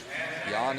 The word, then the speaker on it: Jan: Um, one of my favorite fighters is named Yan Blahovich and he's from the same area and it's spelled Jan.